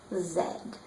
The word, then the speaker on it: Z: The last letter of the alphabet has been a Z, but in Canada is pronounced zed.